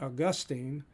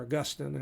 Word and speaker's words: Augustine: of original sin that augustine uh or augustine however you probably want to pronounce it i've heard it both ways uh will come